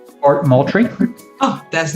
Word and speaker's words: Moultrie: Fort Moultrie.